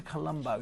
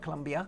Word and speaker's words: Colombo: Another day at sea, and then we're going to Colombo, not Colombia. Colombo. Sorry, yes, I did mispronounce that.